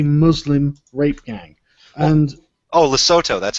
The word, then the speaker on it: Lesotho: And Oh, Lesotho. That's how you pronounce it.